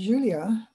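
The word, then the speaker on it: Iulia: grandpa how about julia it's with an i-u-l-i-a but it's pronounced julia apparently uh this is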